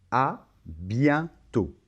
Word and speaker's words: à bientôt: la combinaison e et n ça va se prononcer 1 c'est un son à zale à bientôt bon je peux pas insister trop sur la